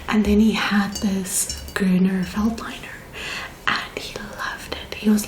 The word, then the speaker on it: Grüner Veltliner: I do think it's pronounced Grüner. Okay, so it's called a Grüner Veltliner.